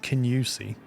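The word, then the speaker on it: Kingussie: Uh there's a there's a town called I believe you pronounce it Kinusi but it's spelled Kingi.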